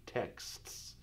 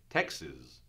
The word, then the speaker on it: texts: texts and that's hard whenever we have these combo consonant combinations spread of kts I know text that really becomes a case out text that's hard but we'll give it singular text text text you can say that now oftentimes or once in a while I'll hear somebody say well I sent him Texas I send him Texas so it sounds kind of like this state in